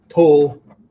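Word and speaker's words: Togakushi: So it says Togakure. Okay. Togakure Yama. Okay. Actually, this is pronounced Shi. Right. So Togakshi Yama.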